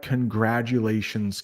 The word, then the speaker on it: congratulations: I think we have congratulations coming up. Congratulations. I know there's a T, but it's pretty much like a D.